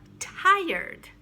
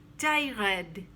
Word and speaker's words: tired: is silent receipt uh tired i often hear tyred no tired it's easier to say that way and then analyze don't